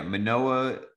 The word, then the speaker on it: Manoah: Yeah, Manoah presumably is going to be healthy.